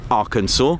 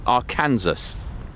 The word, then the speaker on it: Arkansas: Who remembers when I tried to pronounce Arkansas? I had no idea it was pronounced Arkansas. And what did I say? Good old Nikos with his pronunciation goes a Kansas.